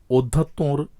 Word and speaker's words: অধ্যাত্ম: বন্যা অধ্যক্ষ অধ্যাত্ম এখানে অধ্যাত্মর সর্বশেষ যে তকারটি রয়েছে সেখানে চন্দ্রবিন্দু রয়েছে এবং উচ্চারণটি একটু নাসিক্য হয়েছে কারণ ত এর সাথে